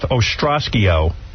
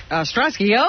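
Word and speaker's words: Ostrosky: The ring master of radio mayhem is now dating actress Beth Ostrasio. Ostroski. Yeah, they spelled the name wrong.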